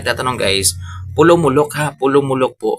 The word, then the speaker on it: Polomolok: Pulom mulok po 'yung tamang pag-pronounce. Ayan hindi po pulo mulok yan. Minsan din ako magsasalita mga pulom mulok yan pulong-mulok po siya mga ka-yo.